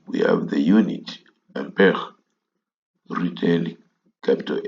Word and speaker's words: ampere: Some love to pronounce this as ampere. It's a French word. It's pronounced as ampere.